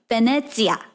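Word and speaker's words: Venezia: to say like locals, what is Venice? I say Venice because that's how you know Venice. But in Italia, we would say Venetia.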